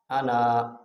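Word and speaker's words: أنا: لفظ آنا کا جو ہجہ کا طریقہ ہے وہ یہ ہے کہ ہمزہ زبر آ، نون زبر نا، آنا وقفاً انا، یعنی وقف میں الف پڑھا جائے گا، ہجے کرتے وقت الف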